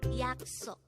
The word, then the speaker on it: 약속: Again, 약속. This is pronounced as a 2-syllable word. The first syllable is 약, the second syllable is 속.